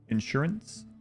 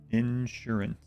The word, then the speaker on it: insurance: Put emphasis on the first syllable. Insurance. Insurance.